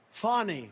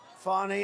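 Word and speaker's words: Fani: all these local cases like funny funny it's spelled Fanny it's spelled Fanny like your ass right Fanny but when she became da she decided to add a little French a little fancy fny fonny and you know fonny and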